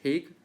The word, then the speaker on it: Hague: All right, pronunciation is Hague, Netherlands.